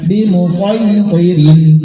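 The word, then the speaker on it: بمصيطر: nomor 20 23 bimusaytirin tulisan shad tetap shad bacanya bimusaytirin terdapat di surat Al-Ghasyiyah ayat 22 juz 30.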